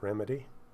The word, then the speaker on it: ReMidi: using remedy for bass or remedy i guess that's how the the producers of it uh pronounce it so i guess that's the right way to pronounce it remedy uh but you can